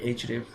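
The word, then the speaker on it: href: সেটি হচ্ছে রেফ রেফ এটাকে আমরা রেফ উচ্চারণ করতে পারি অথবা বলতে পারি এইচ রেফ যেটাই বলি না কেন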